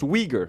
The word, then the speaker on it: Uyghur: It says it's pronounced Uyghur.